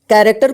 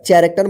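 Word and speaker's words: character: चू देखिए यहां पे कैरेक्टर को आप ध्यान रखिएगा कैरेक्टर जो है ना सीच शुरू हुआ है लेकिन इसका उच्चारण क होगा चरेक्टर मत पढ़िए ठीक है इसको ध्यान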